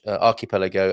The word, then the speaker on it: archipelago: really it's definitely a it's definitely an arc rather than an arch archipelago and i will get